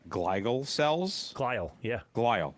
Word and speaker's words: glial: I'm going to totally mispronounce this word, but I think it's called glial cells.